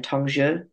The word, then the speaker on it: Tongzhi: when we get into remind me how to pronounce it again Tong before we get to tonger I think it's